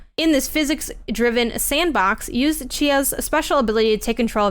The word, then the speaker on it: Tchia: Then there was this really cute game shown off for what I believe is the first time called Chia, but it's spelled Tchia.